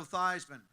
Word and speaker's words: Theismann: think by just simply changing the pronunciation of your last name from thian to thigh and rhy with th we can get you that trophy that's how I wound up becoming Joe thyman there are certain ways